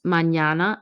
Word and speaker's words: mañana: The pronunciation of Nye is similar to the NY in the English word canyon, and we see it in the words mañana and piñata.